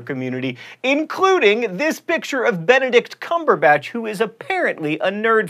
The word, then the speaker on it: Benedict Cumberbatch: including this picture of Benedict Cumberbatch who is apparently a nerd fighter you say that Benedict Cumberbatch by the way not Bandicoot cumber Bund and that is the first